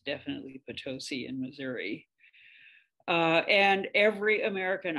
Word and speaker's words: Potosi: wisconsin and nevada i'm not sure how they pronounce it in wisconsin and nevada but it's definitely potosi in missouri and every american i have ever